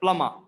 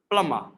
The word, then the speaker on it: plumber: we pronounce it as plummer plummer so b is completely silent the british pronunciation and